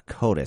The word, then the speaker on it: coati: A coatis. C-O-A-T-I-S. The coati, pronounced coati, okay.